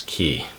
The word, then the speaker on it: Cay: cases personal preference but I do believe the most correct way to pronounce it based on my research is key back to the Cocker